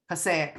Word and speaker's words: Passaic: How do you pronounce that? Is that Passaic? County Women's Center. Passaic.